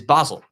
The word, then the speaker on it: Basel: you spell it but the club because it's pronounced in German is Basel so so I literally